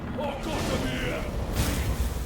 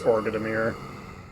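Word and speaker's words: Orgodemir: You dare to defy the demon king or godamir and die. Did you pronounce it or godamir? I'm not saying it that way. That's wrong. It's ordamir.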